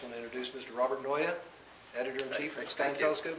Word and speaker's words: Naeye: you want to know it's a Flemish and uh it's pronounced Noya like paranoia want some a mic